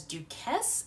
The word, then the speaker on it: Duquesne: Mary's High School to continue his education at, I believe it's pronounced as Duquesne.